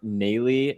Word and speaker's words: Nalley: I'm going to pull in Armond and Ruben from Nalley, or I don't know. I always mispronounce it. So you guys tell Armond, how do you pronounce it, man? It's Nalley Lexus, Rob.